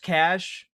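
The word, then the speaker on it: cache: Um, it's kind Look, I also I know it's pronounced cash.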